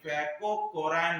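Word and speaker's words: François Caron: इसका नाम आपको कहीं कहीं फैको कोरैन भी मिलेगा, फैको कैरोन। ठीक है, फैको कैरोन, केवल आपका प्रोनाउंसिएशन का अंतर है।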